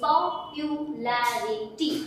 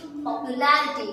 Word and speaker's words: popularity: लेकिन जैसे ही अब आप इसमें ITY लगा देते हो तो स्पेलिंग कंप्लीटली चेंज हो जाती है। तो कैसे हो जाती है, POPULARITY, तो पॉपुलैरिटी, पॉपुलैरिटी। क्या पढ़ोगे ऐसा, पॉपुलैरिटी।